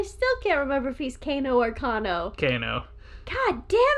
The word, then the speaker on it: Kano: what we thought it was raiden's the actual pronunciation see this is why i still can't figure out so is it kano ricano kano yes good job i thought of it because